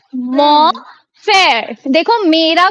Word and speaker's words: mon: मॉ फेयर। देखो, मेरा को Mon बोलते frère. हैं मॉ, Mon frère. राइट, लेकिन एन Mon साइलेंट होता है frère. तो मॉ, Mon मॉ frère. बोलते हैं, मॉ फेयर यानी मेरा भाई, ठीक है।